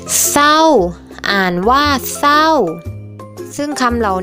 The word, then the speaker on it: เศร้า: สร้อย จริง อ่าน ว่า จริง เศร้า อ่าน ว่า เศร้า ซึ่ง คำ เหล่า นี้ นะ คะ ก็ จะ